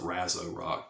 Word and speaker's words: Razor Rock: And I know some people pronounce it Razzo Rock, but it's Razor Rock to me.